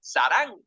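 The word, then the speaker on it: 사랑: Amor en coreano se dice sarang. Son 2 sílabas y se escribe así: S-A-R-A-N-G.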